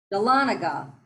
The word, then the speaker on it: Dahlonega: is and it's called is that how you pronounce it Dahlonega Dahlonega yep Dahlonega Georgia and you're in the Appalachian